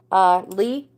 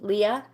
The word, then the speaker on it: Leah: Lee, is it Lee? Leah, hello, welcome, thank you. Oh, thank you. Thank you guys. You're so sweet. You absolutely can. So it's pronounced Lee? Leah.